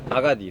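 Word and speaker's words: Agadir: 정확히 아게디르인가? 발음이? 아가딜.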